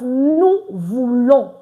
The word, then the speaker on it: nous voulons: Don't forget, we don't pronounce the S. So that's why it's nous voulons.